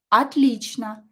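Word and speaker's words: отлично: as a spaceba again or is not stressed pronounce it as a atlichna and stress the correct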